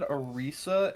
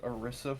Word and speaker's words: Orisa: me see you said you said Arisa and and I thought you mispronounced orisa from OverWatch and I'm like that's